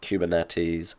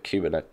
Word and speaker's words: Kubernetes: We all know about Android, Kubernetes, Angular.